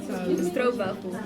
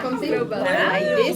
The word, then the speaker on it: stroopwafel: Alright, this is called stroopwafel. J'ai raison. Oh my god. Like with a V. the waffle. Yeah, stroopwafel.